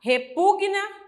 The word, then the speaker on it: repugna: O correto é falar repugna resina estagna E por quê Porque uma consoante nunca pode ficar sozinha não a sílaba então